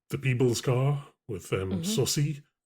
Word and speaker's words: Saucy: So the the people's car with um Sussy, which apparently is how you're supposed to say his name is Saucy.